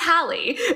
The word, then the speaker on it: Hallie: Because I was reading the description and they were like, Sasha, I think it's Haley. And I was like, I think it's Hallie. Yeah, it's Hallie. Okay.